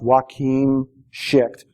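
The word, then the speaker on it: Joakim Schicht: I think it's pronounced Joachim Schicht, Jay Schicht.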